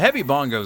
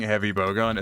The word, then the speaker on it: heavy bowgun: love a rotisserie the heavy Bongos are some of my favorites I mispronounced like for a pretty consistent period of time I kept mispronouncing heavy bowgun as heavy bongos to the point where